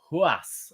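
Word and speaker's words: Ruas: Ruiz limit its spell are UAS but it's pronounced who us Wally so also known as Adrian Giroud yes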